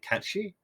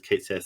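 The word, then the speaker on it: Caitsith: I'm not sure if it is, but Kate Sith, although I believe the Japanese pronounce it Kachi, but That would be, I yeah, think that makes sense. the actual way to pronounce it is Kate Sith.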